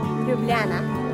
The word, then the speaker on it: Ljubljana: How do you say No, it's silent, It is silent, yeah. How do you say the capital city of Slovenia? Ljubljana.